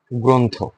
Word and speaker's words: গ্রন্থ: Similar ভাবে গ্রন্থ, similar কি? গ্রন্থ। কেন হলো? এই যে রেফ, গয়ের নিচে রেফ আছে, সে কারণে অটা কি হয়েছে? ও হয়েছে, গ্রন্থ।